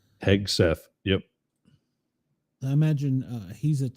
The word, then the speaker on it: Hegseth: Hegseth? Hegseth.